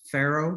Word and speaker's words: Faroe: Faroe, that's how they pronounce it.